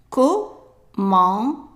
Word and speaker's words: commander: So how would you pronounce just C-O? Right, ko, ko. And then we have an A-N here, and we have done the pronunciation for A-N, just like E-N. It's pronounced as on, as in the word honk, on. And then ER at the end of verbs is always pronounced as a short A. So be careful not to pronounce it as A, it's just A.